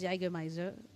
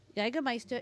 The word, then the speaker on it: Jägermeister: So first off, Intu says it's pronounced Jägermeister. Jägermeister, and it's a bitter herb liquor.